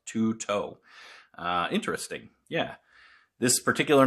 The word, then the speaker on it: Tueto: the crkt t-u-e-t-o and according to their phonetic spelling on the web on their website it is pronounced two-toe uh interesting yeah this